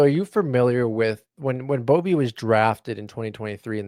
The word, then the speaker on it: Boeve: So are you familiar with when Boeve was drafted in 2023 in the second round by Milwaukee?